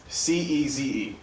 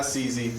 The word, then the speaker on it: Ceze: C-E-Z-E. It's not CZ, but it's Ceze. Like seizing something.